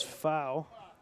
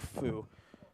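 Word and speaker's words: Foug: And I'm a little surprised that McGuire isn't sending out the pitching coach as Fau. My mistake, Fu. You know, it's spelled F-O-U-G, and I guess there's a silent G as now the San Francisco pitching coach going out.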